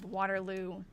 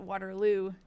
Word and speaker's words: Waterloo: And for those of you who are new, Ralph becomes the mayor of Waterlue, Iowa. I know I say it wrong. They pronounce it Waterloo there.